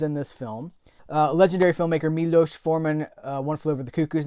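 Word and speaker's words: Miloš Forman: I think we pronounce his name it's like I want to say Milos. I think it's Milos Forman.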